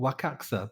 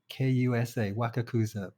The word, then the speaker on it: Wakakusa: It's called Wakaxa, but it's spelled Wakakusa. Wakakusa, Wakakusa, but it's pronounced Wakaxa.